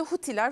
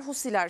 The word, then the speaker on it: Husiler: için bu şekilde söylüyoruz literatürde huiler husiler şeklinde de telaffuz ediliyor dakika bir dakika Neden